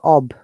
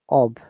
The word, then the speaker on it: of: of if you remember oh f is ob this sound or f it is ob okay o double f is off yeah let me give